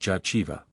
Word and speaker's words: Jehovah: that which the high priest in the temple pronounced jaiva so Unity complete in the fruitfulness of the